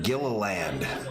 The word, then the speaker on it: Gilliland: Todd pronounces his last name Gilliland.